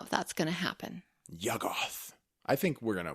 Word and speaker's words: Yuggoth: the stars in the sky and dream of YUGGOTH. Say it with me, babe. No. Or wait, I think I said it wrong. Shoggoth. No, what? No, Shoggoths are the monsters. The planet is YUGGOTH.